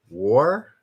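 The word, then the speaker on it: Waugh: last name evelyn like is that gh silent is it wow yes flower id you are correct war really like an r light like war without without vr wall wall all right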